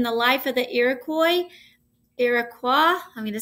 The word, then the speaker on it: Iroquois: about it in the life of the iroquois iroquois i'm going to say it right and because